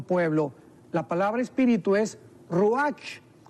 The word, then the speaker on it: ruach: la palabra espíritu es ruach que se pronuncia raj también entonces etimológicamente que